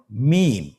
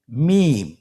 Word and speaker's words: মিম: মিম। হরফটির নাম কি? মিম। মিম হরফটি উচ্চারণের ক্ষেত্রে অবশ্যই বারিক হবে, পাতলা হবে এবং তিন আলিফ টেনে উচ্চারণ করতে হবে।